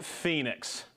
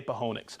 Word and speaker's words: Phoenix: Devin England I know Garrett I know it's pronounced Phoenix I get it but I like to say ponix okay John from West Bailey Vermont Juan from